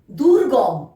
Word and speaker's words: দুর্গম: দয় হ্রস্ব গয় রেফ ম, দুর্গম, দুর্গম।